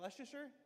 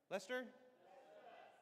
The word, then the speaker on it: Leicester: How do you say? Is that Leasher? Lester.